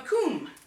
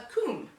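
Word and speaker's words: cwm: you'll call them a coombe. So in Scotland, it would be called a corrie, and in Wales, a coombe. And yes, that is spelled C-W-M, because in the Welsh language, W is a vowel.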